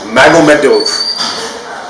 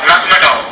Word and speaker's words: Magomedov: So I'm not sure who got there first, Dariush or Magomedev, but I keep pronouncing his name wrong. Magomedov. Yeah, Magomedov.